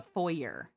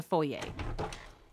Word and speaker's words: foyer: or how some people Americans call it a foyer it's it's a foyer the r is silent okay oh foreign